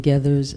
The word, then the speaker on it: Gathers: And can um It's gather spelled with a spelled like feathers but with a G.